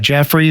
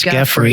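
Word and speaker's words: Giuffre: I think it's it's I believe it's pronounced Grey, like Jeffrey, but it's with a G. It's Jeffrey.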